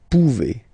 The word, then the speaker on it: pouvez: A Z like that. Okay? Remember you pronounce it E. Okay? Vous pouvez. Vous pouvez.